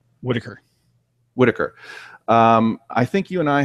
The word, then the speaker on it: Whittaker: And you and I think have, how do you pronounce her name? Whittaker.